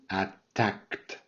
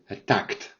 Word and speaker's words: attacked: to get it right attacked so the e over here is mute you don't say it attacked so it's a d but you have to pronounce it like a t and you have to